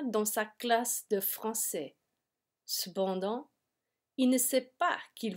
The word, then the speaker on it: cependant: Cependant, il ne sait pas qu'il va passer son examen aux limites de la zone pénombre.